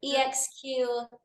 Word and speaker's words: Exquiset: It's like the last part of it is like set, like sets and reps, like the set of an exercise.